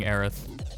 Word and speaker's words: Aerith: was in it and I think it's actually pronounced Eris but it's spelled Aerith I had I had a source on that but I don't remember it so I'm gonna keep saying Aerith I'm probably gonna flip